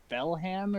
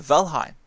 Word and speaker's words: Valheim: One game I've been wanting to try is I think it's pronounced Belham or something like that. I just get tongue twisted when I try it. It's like realistic type. It reminds me of Ark. Oh, Valheim. Yeah, Yes, the that's it.